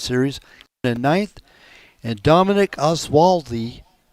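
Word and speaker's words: Olszowy: in ninth and Dominic oswaldi o zoi I believe it's pronounced uh he come in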